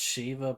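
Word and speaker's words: Sheva: uh as in like you know it's pronounced Shiva but it's it's written as s-h-e-v-a and it's supposed to be referenced to Shiva the summon from Final Fantasy because this was a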